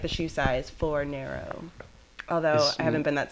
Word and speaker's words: Fornero: Most people say Fornero, Fornero. I was just thinking it sounded like Nero, because the... Yeah. Well, I used to say, like, the shoe size, Fornero.